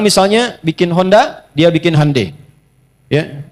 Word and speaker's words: Hyundai: Jadi Jepang misalnya bikin Honda dia bikin Hai ya. Y Hyundai saya tahu bahasanya dibacanya Hai ya.